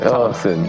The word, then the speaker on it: Thompson: Thompson. Thompson. Uh It's like the H is silent. Thompson.